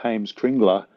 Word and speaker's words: Heimskringla: But if people want to search for Heimskringla in English, I'll just spell it for you. It's HEIMSK RINGLA.